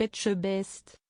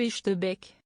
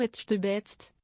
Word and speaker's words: Etchebest: Bonjour monsieur Etchebec. C'est encore raté pour cette fois-ci. Philippe Etchebest s'y est repris à 4 reprises avant d'abandonner l'idée de faire correctement prononcer son nom à Karine. Bonjour Etchebest, a-t-elle carrément sorti dans un excès de désespoir